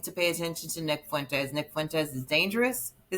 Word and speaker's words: Fuentes: If you do Fuentes, say it right.